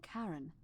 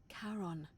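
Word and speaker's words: Charon: is a little off the name you heard wasn't karen it was c-h-a-r as in caron the ferryman of the dead sharon caron who in exchange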